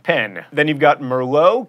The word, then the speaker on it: Merlot: pen then you've got Merlot keep that tea silent and caramel three syllables